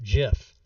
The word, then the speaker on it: GIF: graphic interchange format but you don't pronounce gif as gif you pronounce it jiff that's the that's the whole argument people that say it's gif are completely wrong how much time a